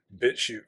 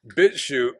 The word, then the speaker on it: BitChute: You'd have to find them on Brian's BitChute feed, which you're not supposed to say. It rhymes with Withoot.